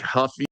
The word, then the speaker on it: Ruffy: So, yeah, it's like Huffy, I think, cuz he's, you know, Brazilian and they pronounce it with an H.